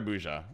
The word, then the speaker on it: Burza: So, wait, Burza or Buja? Which do you prefer? Burza is the Polish pronunciation.